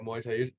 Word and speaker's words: Muay Thai: Yeah, Muay Thai.